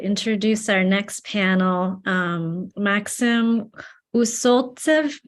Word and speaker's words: Усольцев: Maxim Usoltsev, I probably butchered your name, huh? Usoltsev, am I close? Усольцев. Thank you.